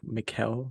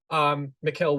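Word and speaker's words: Micheal: Olivia Colman, Michael, I think Mikel Ward is how it's pronounced.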